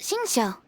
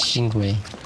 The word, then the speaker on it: Xingqiu: Is that how you pronounce his name? I thought it was Xingwei. I guess that's how you say Xingqiu's name.